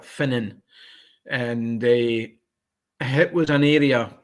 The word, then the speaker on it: Finnan: There's a place called it's pronounced Fingen, but it's actually spelled Finnan, and it was an area which runs for a place called Petarch over to sort of like to Bankery.